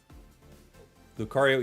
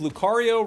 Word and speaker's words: Lucario: Today, I realized Lucario rhymes with Mario. That's true. It's a me, Lucario.